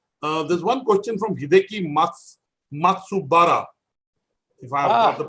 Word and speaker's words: Matsubara: I think there are lots of 20 questions, there's one question from Hideki Matsubara, if I have got the pronunciation. Yeah, Matsubara-san.